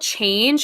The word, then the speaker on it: CHNG: It's a company called Change, and I think it's spelled CHNG. CHNGE. So it's Change without the A.